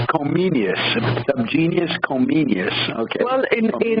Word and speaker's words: Comenius: Comensius? John Amos Comenius. Comenius.